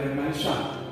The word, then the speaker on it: Renaissance: Nah, yang pertama misalkan Renaissance, karena ini dari bahasa Prancis maka dibacanya Renaissance.